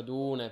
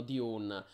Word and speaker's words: Dune: noi anche perché ci ci piace la pronuncia Dune perché è anche quella più evocativa Insomma c'è tutto il discorso sono su come chiamarlo però gli inglesi gli americani lo chiameranno diun Però noi qua esattamente